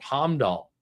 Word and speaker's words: Heimdall: That's how you pronounce it, Heimdall.